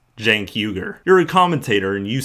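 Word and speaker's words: Cenk Uygur: founder chenk uh and socialist it's jankyuger it's pronounced jankuger you're a commentator and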